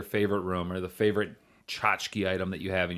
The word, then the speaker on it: tchotchke: got a Christian yeah t CH t yeah chk e yeah imma stick with just saying it and then people say chachaka Jessica yeah that's what the pronunciation guide says cha cha cha chica yeah yeah but I don't like that I like tchotchke oh yeah yeah always